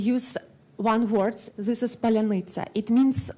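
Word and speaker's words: паляниця: Even Russian-speaking Ukrainians can say this word, palyanytsa. Russian can say this in this way, like palyanytsa. They cannot like this soft, hard syllables. It's like not so easy for them, but in Ukraine it's really easy.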